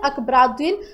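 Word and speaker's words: Akbaruddin: ही tweet किया है थोड़ा सा नाम कॉम्प्लिकेटेड है ब बिल्कुल हम यहां पे अगर इसको प्रोनाउंस करने की की कोशिश करें दैट इज़ सैयद अकबर उद्दीन अकबर उद्दीन इनका प्रोनंसिएशन बिल्कुल सही होगा तो इंडिया के परमानेंट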